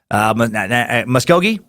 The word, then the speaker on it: Muskogee: with the town of Muskogee Oklahoma it's pronounced musk as in men's cologne Oh as in the